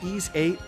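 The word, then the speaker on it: Ys VIII: there you go ease eight the it's called ease eight lacrimosa of donna try to spell that part uh but a huge weird anime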